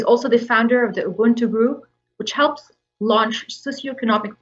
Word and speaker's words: Ubuntu: So you pronounce pretty well, actually. So back home, we say Ubuntu. So repeat after me, Ubuntu. Ubuntu. Now we're talking.